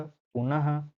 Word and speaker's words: पुनः: जैसे अतः, प्रातः, प्रायः, पुनः। मैं बोल रहा हूँ तो लास्ट में क्या उच्चारण हो रहा है, ह का, ये क्या है, विसर्ग है।